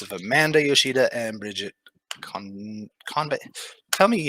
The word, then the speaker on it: Convey: emphasis on the wrong syllable. First syllable. Yeah.